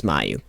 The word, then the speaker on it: Mayu: Didn't May you get through here? May you? You'll have to find some other way in. She does pronounce it as Mayu.